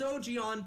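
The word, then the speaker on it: Ogion: you ogan there we go that's how we're pronouncing in the show now it's OG on people all right yeah okay yeah no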